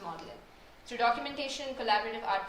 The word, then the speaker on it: Magdalene: And I think about access in the unspoken rules here like when I wonder why Magdalene is produced pronounced modeling.